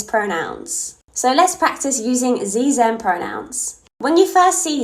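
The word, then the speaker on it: xe: struggled with this but it's pronounced with a z z z pronouns and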